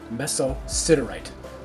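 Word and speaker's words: mesosiderite: thing on this video the proper pronunciation for that meteorite is mesociderite so it's mesocinerate my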